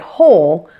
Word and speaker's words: whole: also a syllabic L the word whole technically only has one syllable since there is only one vowel sound but something a little unusual happens with certain consonants like the L it can form a syllable by itself even though there is no vowel sound with it so a one syllable word like hole actually sounds like two syllables this is referred to